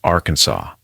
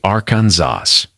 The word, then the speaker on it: Arkansas: It is illegal to mispronounce Arkansas. The correct pronunciation, Arkansas. Say Aranzas and you're not just wrong.